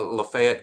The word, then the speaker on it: Lafayette: went all around uh Lafayette County um sorry for all those people in south Louisiana listening we mispronounce it here in where Oxford is I apologize but we pronounce it LEF here uh he went all